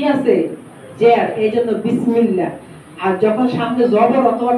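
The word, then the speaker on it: بسم الله: হবে পুর মোটা আল্লাহ আর যদি জের থাকে আগে তাইলে কি হবে চ্যাপটা বারিক হবে যেমন বিসমিল্লাহ বিসমিল্লাহ কি বিসমিল্লাহ বিসমিল্লাহ আমরা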